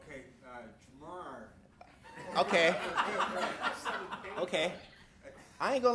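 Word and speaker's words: Ja'Marr: Jamar.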